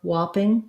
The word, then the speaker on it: whopping: So when I'm looking at the IPA for whopping, whopping, you might see an ah. You might see the same in top and whopping, this ah sound, which we think of as ah. But that W shape is going to affect how your ah sounds here. So this is true also in words like wash and water, where the rounding comes from the W, not necessarily because it's spelled with letter O.